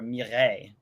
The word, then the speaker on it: Mireille: Her name is Mira, but it is short for Mireille, which is French.